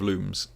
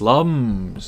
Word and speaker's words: Lums: Did you know here in Portugal we pronounce lums instead of looms. Yeah. In the um the manual for Raymon Origins, it says you're supposed to say looms, but they're wrong. It's lums. It's got to be lums.